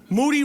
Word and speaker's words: Moody: year that is true moody rhymes with duty the show they call